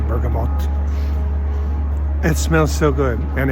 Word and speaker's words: bergamot: went to the burgo Bergamot I always call it bergam you pronounce the tea bergamote it smells so good